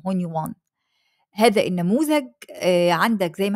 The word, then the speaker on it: Hunyuan: انطقه غلط ولا صح هونيوان اوكي تمام دي النطق الصح يا جماعه ما اسمهوش هونيون اسمه هونيوان هذا النموذج عندك زي